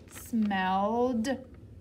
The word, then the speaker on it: smelled: next one l smell do we say ed smell it no way remember when e and d are together sometimes they just make a d sound we don't hear that e so this word says l smelled smelled we'll do one more